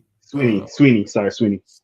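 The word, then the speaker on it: Swinney: Debo Swanee, I think I say his name right. I'll be messing up people's names. Sweeney.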